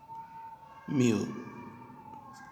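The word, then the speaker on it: μ: ये म्यू का जो साइन है इसकी प्रोनाउंसिएशन है म्यू, ग्रीक लेटर है ये।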